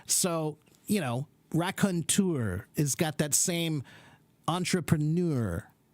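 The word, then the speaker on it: raconteur: that's all yeah okay and this word rakontur it's similar to the word entrepreneur it has the e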